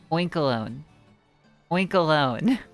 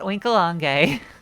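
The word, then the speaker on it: Oinkologne: can do this um oink alone that's how you say it right wink alone as in Cologne because Pig and smelling oink alone not winkelange and not wink along okay anyway taffeta the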